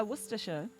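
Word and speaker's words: Worcestershire: Yeah, worersha.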